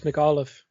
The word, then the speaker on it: McAuliffe: McAwful. Pretty close, McAuliffe.